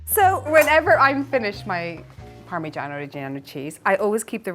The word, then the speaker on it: Parmigiano Reggiano: Parmigiano Reggiano.